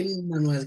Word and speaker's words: Emmanuel: Immanuel. Emmanuel. Immanuel. Ah d'accord, ça s'écrit EM, c'est pour ça que je dis Oui, Emmanuel.